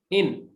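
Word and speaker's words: إن: এখানে জজমটা হ্যাঁ হ্যাঁ ইনের মধ্যে জজম আছে আর ইন্নার মধ্যে তাসদিদ আছে এই ব্যবধান আছে ইন্না মানে নিশ্চয়ই আর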